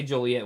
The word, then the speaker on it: Joliet: was he Joliet yeah we say Joliet was he saying not